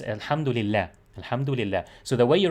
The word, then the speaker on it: alhamdulillah: allah so it's not it's not pronounced this way you know the way you wrote it is is closer to the pronunciation because it's alhamdulillah alhamdulillah so the way